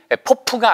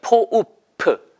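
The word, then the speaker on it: pope: 그래서 그 교황님을 이야기할 때는 발음이 포프가 아니고 포읍이에요. 포읍프.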